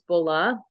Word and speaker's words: bola: name uh is actually we say bolo but it's in Spanish it's Bola and the Bola is